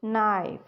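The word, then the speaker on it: knife: क किट क नाइफ नाइफ में क की साउंड ही नहीं आ रही वो इसलिए कि जब भी के के साथ एन आता है तो इनमें से के साइलेंट हो जाता है ठीक है जब भी के और एन इकट्ठे आते हैं तो के साइलेंट हो जाता है और एन की साउंड आ जाती है अब यह सब आगे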